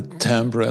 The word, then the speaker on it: Timbre: I like the timbre. That's also, by the way, the name of your company. So the sound colors. Phonetically spelled TAMBR.